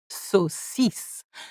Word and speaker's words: saucisse: Saucisse. Do you notice that we pronounce the S sound and not the K? And why is that? Because there is an I after the C.